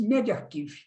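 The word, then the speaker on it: medRxiv: No final de agosto, o estudo foi publicado em MedArchive, pronuncia-se MedArchive, um serviço gratuito que armazena estudos médicos que ainda não passaram por revisão por pares.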